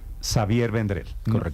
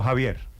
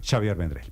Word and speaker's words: Xavier Vendrell: radio Don Xavier vendrel Qué es Catalán pronuncio bien su nombre perfecto Xavier vendrel no Javier no noend Xavier vendrel muy bien Xavier vendrel es uno